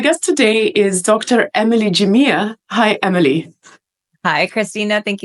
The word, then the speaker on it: Jamea: you definitely would not have been able to pronounce it. But we say Jia.